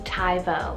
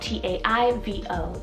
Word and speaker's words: Taivo: actually on the boy side is the name taivo it's called t-a-i-v-o taivo and it also means ethereal then for